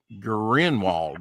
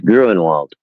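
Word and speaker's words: Gruenwald: Uh, uh, G Grinwald. I can't, you know, so if I got his name wrong, I'm sorry. It's It's Gruinwald.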